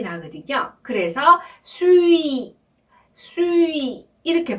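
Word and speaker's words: suis: 이렇게 발음을 하고요 동사는요 수위가 나왔어요 여러분 우리가 설명을 했는데요 발음은 수위 이렇게 발음하셔야 돼요 수의 발음 아까 두유할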